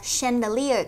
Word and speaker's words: chandelier: From the chandelier, các bạn lưu ý nha.